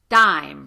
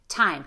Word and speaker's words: time: So it can be helpful to imagine a little or H sound right after the T sound. So time. Think about an H. Tell, take. Now keep the H, just make it shorter.